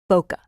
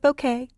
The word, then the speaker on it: bokeh: i should show is boca some people call it bouquet but the proper pronunciation is bow like bow tie and cut like kettle ok ok I have